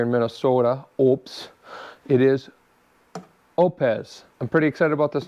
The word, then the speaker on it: Oupes: the mail it's the oupes and it is pronounced oupes not oops or oooh-ps like we'd like to say here in Minnesota oops it is opz I'm pretty excited about this new solar generator